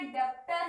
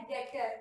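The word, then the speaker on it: debtor: और उसमें अपन लिखते डेप्टर है, लेकिन वो प्रोनाउंस होता है डेटर, ठीक है, बी साइलेंट रहता है। बहुत लोग उसको डेप्टर भी बोलते हैं।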